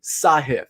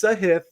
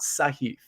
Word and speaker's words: Sahith: pronouncing his name correctly it is sahith and i don't mean to be the pronunciation police but we keep saying his name he's a rising star in my opinion we may as well get it right it's sahith not saheef sahith thi gala all right